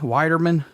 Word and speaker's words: Widerman: going really good and thanks for pronouncing my last name correctly yeah I'm sure usually everybody calls you bald or men or something yeah exactly everyone always likes to throw that L in there like I said you